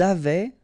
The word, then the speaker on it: avaient: Ils avaient, so look here, E-N-T, you write them, you don't pronounce them.